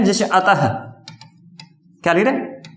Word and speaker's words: अतः: तो देखिए क वर्ग है और विसर्ग, जैसे विसर्ग कहां लगता है, जैसे अतः, क्या लिख रहे, अतः नहीं है, अतः है का उच्चारण होता है साथ में।